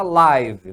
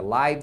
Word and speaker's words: live: que é live live se você pronunciar o som curto aqui e Live é o verbo morar ou viver tá então morar ou